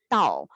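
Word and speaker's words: 倒: placed upside down because the pronunciation of upside down is tau which shares the same sound for the word arrival therefore when the character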